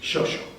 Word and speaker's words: chocho: Y además se pronunciaba así, shosho.